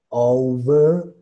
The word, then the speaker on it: overalls: Overalls.